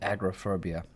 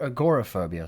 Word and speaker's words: agoraphobia: is called it's called agrophobia if you google that you'll see uh i think it's agor agoraphobia sorry not agrophobia that's that's a different thing agoraphobia or something like that that's how you pronounce it that's the the